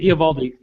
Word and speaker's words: Eovaldi: JP, but Eovaldi. The O is silent.